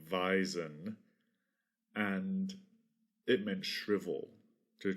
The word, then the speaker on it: wisen: was a an old an ancient archaic german word wisen which i'm guessing was probably pronounced something like veisen and it meant shrivel